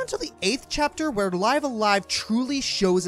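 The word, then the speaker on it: Live A Live: of the genre namely live alive yes that's how it's actually pronounced it's sold poorly upon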